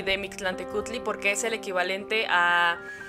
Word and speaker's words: Mictlantecuhtli: río y llegar ante el Mixtlatechutli. Perdón si no pronuncio. Mictlantecutli. Mictlán. Ya, Joana nos ayuda. Mictlantecutli.